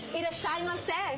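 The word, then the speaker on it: いらっしゃいませ: Irashaimase.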